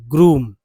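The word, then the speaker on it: groom: उच्चारण होता है लॉज अगर मैं पर लिख दूं यहां पर कि जी आर डबल ओ एम यहां उच्चारण होता है ग ठीक है ग्रूम यानी यहां ग उच्चारण हुआ तो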